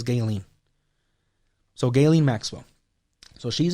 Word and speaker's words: Ghislaine: her name it's because i don't know how to pronounce a name that is g h i s l a i n i heard as galen so galen maxwell so